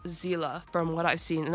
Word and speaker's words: Seele: I thought it was Sealy for a very long time but apparently the name is German so it's pronounced Zila from what I've seen